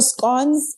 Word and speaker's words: scone: Um she's like she her scon I love scon. So or I'm not sure how you guys pronounce them. scones are scon but yeah South Africans with scon she makes great scon